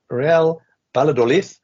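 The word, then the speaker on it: Real Valladolid: many wins from them but real badol as we're now pronouncing it the correct way are doing pretty well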